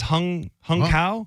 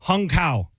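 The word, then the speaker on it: Hung Cao: I believe his name is Hung Kao. What? He's like he's an Asian guy. What's his name? He's the new acting Navy secretary that's taking over. His name is Hung Kao.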